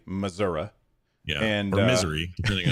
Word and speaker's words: Missouri: This guy, he's a Republican out of Missouri, or as the people in Missouri say, Missouri.